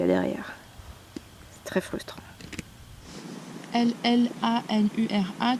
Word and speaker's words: llanura: L-L-A-N-U-R-A, tu dis Llanura. La llanura. La rida llanura. La rida llanura. Llanura. Et si tu vas aller plus vite, prononce-le comme un Y.